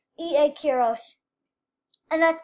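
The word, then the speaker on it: Quiroz: Kiros. E.A. Kiros. And that's pronounced Q-U-I-R-O-Z.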